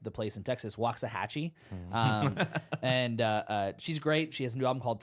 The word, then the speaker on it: Waxahatchee: I've been listening to, and I believe I'm going to say this artist name correctly because it's spelled like the place in Texas, Waxahatchee.